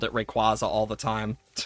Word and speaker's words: Rayquaza: I mean, I know they confirmed that um Rayquaza is pronounced Rayquaza, like quazar, and I'm like, I thought everyone did, and then I remembered, oh wait, no, I had a friend who called it Rayquaza all the time.